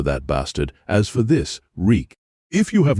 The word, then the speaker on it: Reek: I'm Reek. It rhymes with sneak.